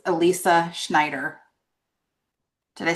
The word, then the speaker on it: Schnieder: And contestant number 6, Elyssa Schnieder. Did I say that right? Did That's I how get you pronounce Elisa's name. Yeah. Elyssa Schnieder? Mhm. Not Snyder, Schneider, right? With a schn.